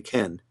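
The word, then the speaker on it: כֵּן: We don't say Cain when we say yes, we say Ken.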